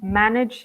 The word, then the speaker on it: manage: pronouncing incorrectly instead under manage a lobster's of an edge but the stress must be in the first syllable manage he says decreased see